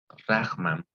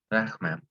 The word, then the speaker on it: rarement: ¿Cómo es la pronunciación acá? ¿Cómo creen que es? Rarement. Rahman, oui, Rahman, oui.